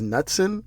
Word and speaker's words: Knutson: mention is uh Knutson I think it's nutsin I don't think you pronounce the k but I'm going to say Knutson conductor versus man I had this 30 27.